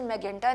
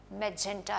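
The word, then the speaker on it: magenta: जो letter sound है, तो इसकी प्रोनाउंसिएशन मैजेंटा नहीं है, मैजेंटा है। MEGEN जेन टा, TA टा, ओके, मैजेंटा।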